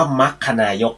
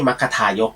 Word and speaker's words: มัคนายก: เป็น มัคนายก นะ ฮะ อ่าน ว่า มัก คณายก นะ ฮะ ไม่ ใช่ มัคทายก นะ ฮะ ไอ้ นั่น มรรค กะทายก ไม่ ใช่ นก กระทา นะ ฮะ มักกะนายก นะ ฮะ มัคนายก เนี่ย นะ ก็